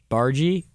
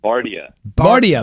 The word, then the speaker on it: Bardia: Bargy. Bardia. What is it, man? It's Bardia. Bardia. Okay. They wrote it up wrong the wall. She wrote it phonetically the incorrect way.